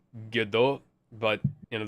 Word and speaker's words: Gadot: It's Gadot, but, you know, there's a slight T on the end.